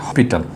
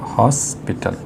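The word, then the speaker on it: hospital: কারণ এইচের উচ্চারণটা হয়ে যাচ্ছে এখানে হসপিটাল, দেখো হসপিটাল, দেখো এইচ উচ্চারণটা হয়েছে, এই জন্য এখানে এ বসেছে।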